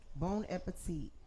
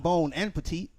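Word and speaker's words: bon appétit: bon appetit. Not bone and petite. I Bone. I Bon said, appetit. Say it like it's one word.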